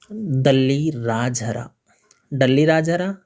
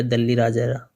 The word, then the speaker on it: दल्ली राजहरा: तो सबसे पहले लौह अयस्क प्राप्ति स्थल का नाम हम लेंगे, वो है दल्ली राजहरा या दल्ली राजहरा, उच्चारण का भेद है, एक ही बात है।